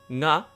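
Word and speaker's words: が: Nga, it's actually written as ga, but you probably have to pronounce it as nga, a bit more like down in your throat.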